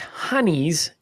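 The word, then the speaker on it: hinnies: Now, it's pronounced honeys in Northeast England, but nobody cares about the Northeast Englanders. But that's where it comes from? It comes from Britain. Okay. But the Northeast Englanders pronounce it as honey, but those people are always ruining the fun.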